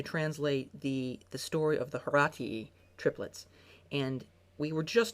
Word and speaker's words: Horatii: The correct Latin pronunciation, though, would be Horatii, if you want to get snobby about it.